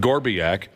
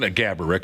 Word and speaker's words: Gaborik: scorer in town, Marian Gorbiak. And the sales department approached me and said, hey, this Saturday afternoon, would you like to make an appearance alongside Marian Gaborik, of course, is the real pronunciation, but Josh's uncle liked